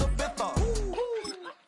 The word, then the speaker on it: Ibiza: That's Ibiza. Ibiza. Ibiza. Yeah, it's pronounced Ibiza actually. What's the difference then? Ibiza, Ibiza. You won't see me in either.